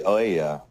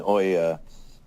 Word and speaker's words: Ouya: It really reminds me of the Ouya, and I've managed to find an Ouya, or Ouya, I think is how you pronounce it, at a thrift